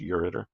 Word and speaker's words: ureter: you'll spell it right you return it's actually pronounced ureter um the urether connects the bladder to the